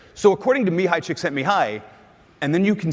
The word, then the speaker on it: Csikszentmihalyi: is that so mihai Csikszentmihalyi some people say Csikszentmihalyi which i think it sounds way too much like chicks think of me highly and so and by